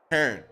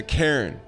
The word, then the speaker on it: Cairn: Speaking of big thank you to today's sponsor, Karen.